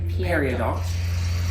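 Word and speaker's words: Peridot: I always feel like it should be dough, but it's Periodot. confusing. No, it is periodot in every language Oh, but English. Okay. But we pronounce the T in English.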